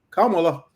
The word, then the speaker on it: Kamala: He was like, Kamala. I can't. That was a good one. He does that little, but yeah, I was called Camilla.